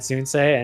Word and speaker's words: Soonsay: So in Croatian, it's like or something like that. But I was not going to risk people saying. So I just went phonetically and went Soonsay.